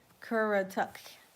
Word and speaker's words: Currituck: So, we're going to get in the Cur- Let me pronounce it right. Currituck County and that seems like a Algonquin word, Currituck.